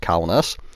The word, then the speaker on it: Kaunas: So, big thanks to Jim Williams, who commented on my LHM TV video last night telling me that the map name was Lithuanian and pronounced Kaunas.